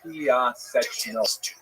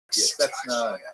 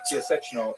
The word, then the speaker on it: Piaseczno: little town about 14, which is pronounced in Polish, Piaseczno. Since there are a couple of sounds there that are hard to read in both English and in Hebrew, it's sometimes rendered Piaseczna, Piaseczno, things like that, but Piaseczno is the correct pronunciation.